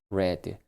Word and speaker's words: read: 스펠링은 똑같고요. 발음은레로 바뀌어야 됩니다. 그래서 read, read레 red 이렇게 써 주시고요.